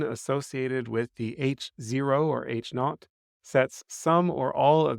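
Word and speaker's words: H₀: Sub 0 or h0 it's generally pronounced H not the alternative hypothesis is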